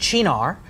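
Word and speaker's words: Cynar: which is based on the artichoke and it's pronounced Shinar and you would serve it on the rocks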